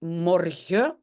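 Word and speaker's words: morgen: ok donc c'est un et puis Mor on ne prononce pas la N à la fin ok 2e phrase j'ai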